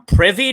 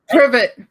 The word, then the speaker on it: Privet: The world will keep on spinning if you don't remember the exact friggin' 4 numbers on Privy Drive. Is that what it was? That was what it was. Privet.